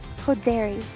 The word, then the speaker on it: Hoderi: So it's pronounced. Hoderi.